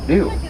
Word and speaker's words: gnu: They're also known by the locals as the Gnu, but that's for the noise they make. A cow will moo, and a white-bearded wildebeest will gnu. Same concept, but it is spelled G-N-U with that silent G.